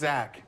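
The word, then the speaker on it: Zask: for a lot of creatures in the graveyard Zas the skittering Swarm lord it's actually pronounced Zach let you play insects and lands from your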